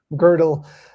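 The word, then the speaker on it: Gödel: and I'm not I know I'm butchering the pronunciation of God's theorem. Girdle.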